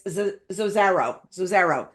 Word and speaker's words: Zozaro: I actually pronounced his name wrong. It's Zozaro.